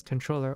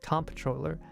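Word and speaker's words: comptroller: um apparently it is a controller a comproller pronounced either the same as controller or as com controller is a management level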